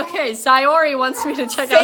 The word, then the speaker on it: Sayori: Sayuri! Okay, Sayori wants me to check out.